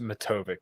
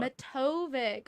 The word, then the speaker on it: Matovic: So the last name is pronounced Matovic. The C is silent. Matovic, Matovic.